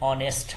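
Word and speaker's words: honest: अब ही इज एन ऑनेस्ट बॉय यहां H silent होता है तो उच्चारण अ से चालू होता है इसलिए यहां पर एन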